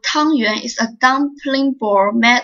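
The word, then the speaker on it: 汤圆: Yuan xiao, also called tangyuan, is a dumpling ball made of sticky rice flour stuffed with different fillings. Tangyuan is pronounced similarly to tuanyuan, which means the whole family gathering together happily.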